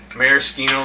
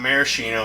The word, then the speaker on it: maraschino: So then we're gonna come by with 2 bar spoons of Maraschino liqueur Luxardo. It's not maraschino. It's actually pronounced maraschino.